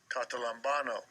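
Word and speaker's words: καταλαμβάνω: Strong's G 2638, Catalambano, Catalambano.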